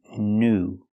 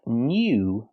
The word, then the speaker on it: new: With the word new, we see the most common pronunciation of EW. It's pronounced oo. The long oo sound like food and moon. Pronunciation, new. Not new, but oo, new.